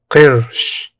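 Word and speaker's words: قرش: Pronounced Qirsh.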